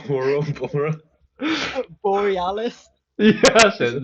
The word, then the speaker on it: Borealis: Borealis. Yeah, that's Is it. it That's it. Borealis? Aurora. Yeah, I the thought it was Aurora Boreal.